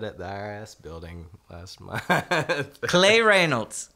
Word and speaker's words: Cley Reynolds: I got that at the IRS building plasma clay Reynolds right that's how you pronounce it clay Reynolds sign it's been